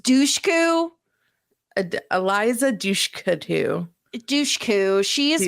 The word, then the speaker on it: Dushku: I don't know that that's actually how you say her name, but you've said Dushkanu so many times now that Eliza Dushku. I think it's just Dushku.